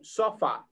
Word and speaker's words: sofa: Repeat, sofa. Sofa. Yeah. Sofa. The stress is in the second letter, in the letter in O.